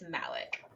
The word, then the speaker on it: Malik: I have the pronounce the emphasis is on the m a um I think Malik Alec I like Malik better but I do too but looking at the pronunciation guide I think it's Malik okay well here we